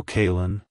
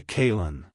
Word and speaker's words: Kaylen: pronounced as kin kin kaln to pronounce it correctly emphasize the first syllable k a y and then then blend it smoothly with the second syllable Lyn like Hello kaln Goodbye kin if you found the